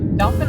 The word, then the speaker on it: Dauphin: we heading today Shanny Dolphin Island a island of dolphins there's no Dolphins it's dolphin and that's not how dolphin is spelled it is not but